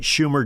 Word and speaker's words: Schumer: Schumer, you said it right, Schumer, Jeff, they want, everybody wants to have something go back to their base.